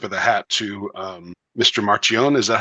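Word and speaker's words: Marchionne: Marchione. Is that how you say it? Yeah, you did it about as well as I could. Yeah. Marchione.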